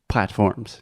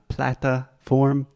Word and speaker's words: platform: Platforms. Yes, it is not plataform, platform. Platform.